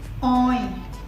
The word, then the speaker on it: oil: In this case, with oil, we have to pronounce the L.